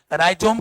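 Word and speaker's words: rhizome: राइजोम के spelling में H silent है, हॉरिजेंटल, याद रखना हॉरिजेंटल।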